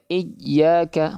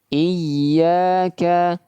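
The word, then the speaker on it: إِيَّاكَ: Karena huruf ya termasuk huruf yang sifatnya rakhawah, mengalirkan suara. Ya, kalau kita baca iyaka, maka di sini suaranya tertahan. Maka ini keliru, ya. Kalau kita baca iyaka maka di sini suaranya sudah tertahan. Maka ini keliru ya. Yang seharusnya mengeluarkan suara malah tertahan suaranya ya. diberikan tekanan suara nab diberikan akan tetapi suara masih tetap menga mengalir.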